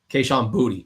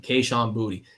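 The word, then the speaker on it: Kayshon Boutte: Stefan Diggs, Kahan Booty, and yes, that is actually how you pronounce his name. Kahan Booty.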